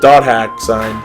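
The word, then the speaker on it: .hack//SIGN: we don't know questions which is wrong it's pronounced dot hack sign so when that first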